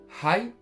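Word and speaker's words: はい: Oui, c'est high. Si on veut l'écrire phonétiquement français, h a I. Hi.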